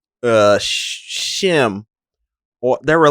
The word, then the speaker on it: Schim: There were three different ways you could pronounce the name. Like, this was the intro. It's spelled SCHIM. Ooh, like schism and shim.